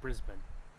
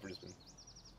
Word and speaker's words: Brisbane: like from American English, that's a silent E. So we always can say Brisbane. I mean, English is weird. We have no rules. Because there's no rule that says when a vowel is silent, so I can definitely see how that gets people. But I've always heard Brisbane.